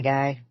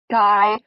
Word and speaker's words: Guy: No, you didn't, my guy.